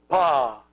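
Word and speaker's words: ⲡⲁ: and the alpha and it's pronounced PA this together is Pa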